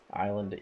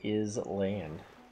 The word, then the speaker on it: island: a stem Bo truth island is land what a good word it would been to that word and then didn't pronounce it correctly why is it pronounced island why is it not Islan stupid English Wow no